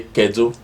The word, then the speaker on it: kedu: You say kedu. Kedu. Perfect. Say kedu. Kedu. Just like that. Just throw it out. Kedu. Kedu. You don't need to stretch it.